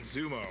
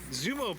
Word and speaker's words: Xumo: I'm just going to spell it XUMO Play. Zumo.